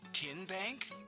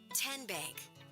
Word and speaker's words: TN Bank: How do you say the name TN Bank? Nope. Ken Bank. Uh-uh. So, what is it? Ten Bank. 10 as in Tennessee.